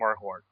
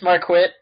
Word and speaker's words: Marquardt: And I am Adam Talent, and we are also joined by Joanne Green and Marquardt. Heyo. Hi. It's Marquit. Just FYI, Marquit. It is Marquit. Spelled like It lies.